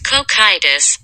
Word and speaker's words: Cocytus: How do you pronounce it? It's like Cocytus. Cocytus? It's Cocytus, bitch.